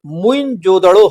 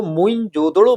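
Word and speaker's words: मोहनजोदड़ो: बनर्जी ने किया था मोहन जोदड़ो शब्द का सही उच्चारण लोग बताते हैं मुइन जोदड़ो है मुइन जोदड़ो जिसे हालांकि उसका शाब्दिक अर्थ जो मुर्दों का टीला कहा गया है लेकिन इसको मोन जोदड़ो बोला जाता जिसको भ्रंश जो है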